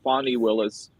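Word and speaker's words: Fani Willis: Kenneth for uh for the correction it is pronounced fonny Willis it's not like the band song the wait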